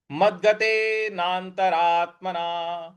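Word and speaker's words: मद्गतेनान्तरात्मना: पद है मदगते मदगते देखिए म के आगे जो द है इस पर हमको बल लगाना है मद्गते नांत नांत जो न के बाद जो आधा न है इस पर भी हमको आघात देना है नाना रा के बाद जो आधा त है इस पर भी हमको बल लगाना है तो यह पद बन रहा है आपका मद्गते नंतरात्मना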